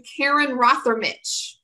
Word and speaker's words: Rothermich: I always tell people it's spelled like mother, only start it with an R instead of an M, and you can get there.